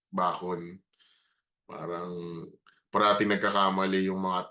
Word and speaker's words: Bacon: And you say it's Bakon. So, you type it, they don't hear it na it's Bakon. So, when they see it's spelled as bacon. So, a lot of people, when I meet them in person, talagang bacon. Bacon, hi Bacon.